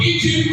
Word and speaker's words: Eton: Eton College, pronounced Eton is E-T-O-N.